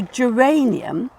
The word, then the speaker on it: geranium: And then with G, so geranium, it's before E, so it's soft.